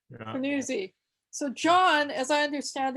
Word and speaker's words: Fanuzzi: Is that how you pronounce that, John? That's right, Fanuzzi. Yeah. Fanuzzi.